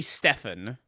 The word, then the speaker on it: Stephen: Stephen's an interesting one because that can also be Stefan. This entirely depends on this is like a regional one.